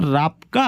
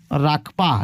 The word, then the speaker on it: राकपा: ठीक है, तो ये जो रापका है राकपा, ठीक है राकपा होगा। सॉरी दोस्तों, प्रोनाउंसिएशन में गलत हो रहा है।